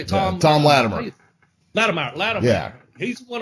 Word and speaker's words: Latimer: Is that Littimer. How you say it, Tom? Yeah, Tom Latimer.